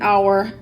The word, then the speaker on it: hour: middle of a word let's conclude with the silent H being at the beginning of a word the H is silent you hear this probably